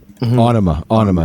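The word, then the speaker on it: Ænima: Onima is how you say it. Okay, everybody said Einema. That's how Maynard said it, so I just go by.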